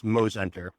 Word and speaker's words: Mozenter: It's Mosenter. Long O between the M and the Z.